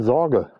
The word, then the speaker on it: Zorge: Sorge mit Z. Ich denke mal, dass es Sorge ausgesprochen wird.